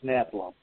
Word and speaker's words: Nephilim: we're going to go into the uh the Nephilim or amongus is that am I saying that right Nephilim yeah yeah it's pronounced Nephilim okay all right all right the dog go